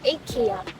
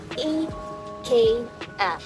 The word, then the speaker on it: IKEA: IKEA or IKEA. So what the right pronunciation actually, guys? So since it's a Swedish company, Sweden people pronounce it IKEA.